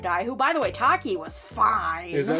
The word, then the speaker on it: Taki: just straight up die who by the way Taki was fine is that how you actually pronounce her name I don't know yeah that's how you pronounce I thought it might be like Tashi like Tashi station pick up some power no